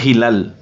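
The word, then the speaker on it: هلال: dice media luna en árabe, y se dice Hilal.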